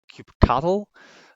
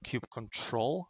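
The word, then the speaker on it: kubectl: is called give CTL some people pronounce it keep cattle I've heard that you've trusted cube control it doesn't really matter the client comes with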